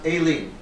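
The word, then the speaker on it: Aline: Yes, So it's pronounced Aileen. in the French way.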